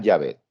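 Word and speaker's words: Yahvé: como se escribe yavet ahora cómo se debe pronunciar yavé ese era el problema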